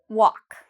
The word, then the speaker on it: walk: And what about walk? Walk. Is there something I'm not pronouncing in this word? Walk. Do I pronounce every letter? No. Walk. Okay, so the L, if you said the L, I'm not pronouncing the L. You're correct.